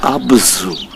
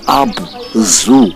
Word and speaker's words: Abzu: the world as the Abzu. And the truth, the right pronunciation is not Abzu as in animal zoo. No, it's Abzu. They pronounced the ZU as Tsu.